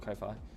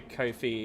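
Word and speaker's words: Ko-fi: I I was called Kofi, but I think it's supposed to be Kofi as in coffee.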